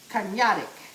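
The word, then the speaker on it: Karnıyarık: So it looks like Karniyarik, but when I listen to somebody in Turkish say it is Karniyarik. I think I got that right. Karniyarik.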